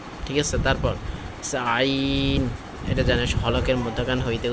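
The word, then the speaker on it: ع: তারপর আইন, এটা জানিস হলকের মধ্যখান হইতে উচ্চারণটা হয়, ঠিক আছে।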